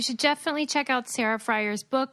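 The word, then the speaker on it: Frier: Sarah, is your last name pronounced Fryer?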